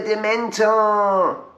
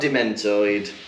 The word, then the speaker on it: Dementor: yeah it was a dementor is it mentored i don't know why he does that because dementor is not a hard word to hear no just say it properly right it's not dementoid he's throwing in these